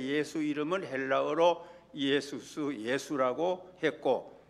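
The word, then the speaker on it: Ἰησοῦς: 것입니다이 예수라는 이름은 이름입니다 헬라 이름으로 예수스 이렇게 발음을 합니다이 예수스 그래서 우리가 아시는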